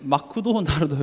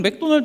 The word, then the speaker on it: 맥도날드: 사로잡히기도 하고요 그래서 제가 저번 주 말씀 제목이 마크도 나르도 있죠 어떤 분은 그게 무슨 히브리어가 뭐 되게